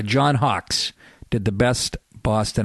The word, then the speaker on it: Boston: not we don't say Boston we say Boston b a w like Red Sox s a w that's the key to